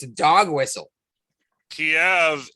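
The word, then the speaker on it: Kyiv: it's a dog whistle kiev is the russian pronunciation of their capital allegedly and keeve is the ukraine way to say it but i've heard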